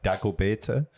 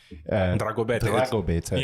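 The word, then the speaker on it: Dragobete: One time I was there for this thing called, I think I say it right, Dagobeta. Dragobeta.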